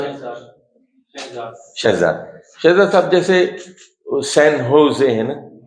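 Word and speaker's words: San Jose: شہزاد صاحب جیسے سین ہوزے ہیں نا, تو لکھتے ہیں سین جوزے, لیکن پڑھتے ہیں سین ہوزے.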